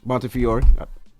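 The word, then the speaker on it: Montefiore: And you asking anybody in this room how to pronounce it? That ain't gonna work well. New York, right? Montior.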